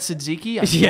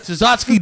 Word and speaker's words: Tzatziki: Tzatziki. Yeah. Well, it's not really silent. It's not a T. It's a tz.